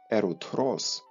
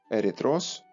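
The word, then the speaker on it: ερυθρός: І цей корінь прагрецький дав таке слово, як давньогрецьке ерутрос, або в сучасній мові звучить як ерітрос, це теж червоний.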